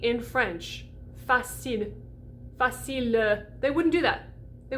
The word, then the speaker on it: facile: the l was done so instead of facile where i stop vibrating as soon as the l is done you get facile it's like this little